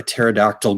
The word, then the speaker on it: pterodactyl: can't you hear a pterodactyl going to the bathroom i don't know why can't you hear a tear pterodactyl go to the bathroom because the p is silent all right